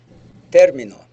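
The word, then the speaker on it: término: your p and qes you got to be careful about which syllable you stress hard it's going to make a big difference in Spanish but again remember that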